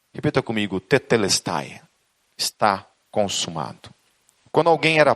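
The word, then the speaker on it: τετέλεσται: Essas duas palavras, está consumado, Jesus pronuncia uma palavra grega que é tetelestai. Repita comigo, tetelestai.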